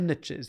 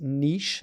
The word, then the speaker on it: niche: going to help the riches are in the niches they used to say oh just but can I just clarify something real quick for everybody listening it's pronounced Niche not Niche who says Niche it's niche I